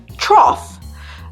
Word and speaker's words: trough: And sometimes you see that the other O-U-G-H word pronounced off is trough.